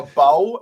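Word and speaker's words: Beau: don't know I said the guy's name was B and it's spelled b e a u that's this is the thing if you're a bow and your name is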